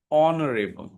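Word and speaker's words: honourable: इसी तरीके से ऑनरेबल। यहां पे भी एच क्या है? साइलेंट है। तो, यही होता है ऑ ऑनरेबल ऑनरेबल राइट तो यह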